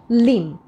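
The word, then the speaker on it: limb: লিম তাহলে beta হবে না এটা শুধুমাত্র হবে লিম সিমিলারলি আছে নাম নট নাম এরকম আমরা একটা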